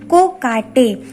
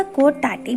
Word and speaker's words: कोकाटे: ठीक है, इसका जो प्रोनाउंसिएशन है मैंने हिंदी में भी लिखा है, दैट इज कोकाटे, चंद्रकांत कोकाटे। बहुत जगह कोटाटे भी लिखा है बट इट इज रॉन्ग। ठीक है, कोकाटे इज the correct answer, Chandrakant कोकाटे India में।